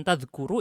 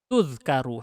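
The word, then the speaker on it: تُذْكَرُ: Bukan tadhkuru itu ya. Salah harokatnya. Koreksi bukunya yang sudah punya ini. Tudhkaru harusnya. Silakan dicek yang versi Arabnya nih. Kalau nggak percaya. Saya belum ngecek yang Arabnya. Tapi tahu itu bacanya salah. Tudhkaru itu harus. Bukan tadhkuru.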